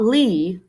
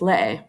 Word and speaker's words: lee: right here lei okay lay it's not lee not one syllable it's two syllables lei all right last one